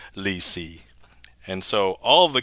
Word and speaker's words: lì xì: And I don't know what it is in Chinese, but in Vietnamese, it's pronounced lì xì.